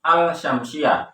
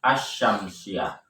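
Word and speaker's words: الشَّمْسِيَّة: Tetapi pada lafaz asy-syamsiyah meskipun ada alif lam tidak terdengar al-syamsiyah, tetapi langsung dibaca asy-syamsiyah.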